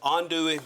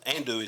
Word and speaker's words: andouille: I will say this um about this This is um andouille andouille, if you say it correctly, but most people in this area where we live, they call it andouille sausage.